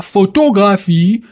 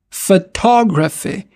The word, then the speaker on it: photography: On dira pas photographie mais fe photography. Photography. Photography.